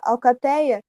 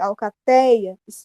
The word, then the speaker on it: alcateia: ali mais fácil alcateia alcateia é paroxítona por quê Porque não é a última sílaba mas é a ante penúltima que tem a que tem o som mais forte alcateia isso isso é a sílaba tônica e de tongo